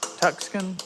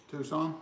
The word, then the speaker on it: Tucson: 20 outside let's see how would I pronounce that tuxen no tuxon Tucson Tucson man yep that's in the